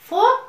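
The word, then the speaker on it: folk: Today we are going to listen an interesting फोक tale of Myanmar name the four puppets, चार कठपुतलियां। देखिए बच्चों, यहाँ L silent है, इसे हम लोग पढ़ेंगे फोक टेल यानी लोक कथा।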